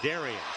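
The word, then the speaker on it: Derrin: He spells his name D-E-R-R-I-N, but pronounces it Darian.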